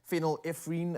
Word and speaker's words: phenylephrine: some benefits with medications such as paracetamol uh phenylephrine I don't know if I'm pronounced that correctly and vitamin C which is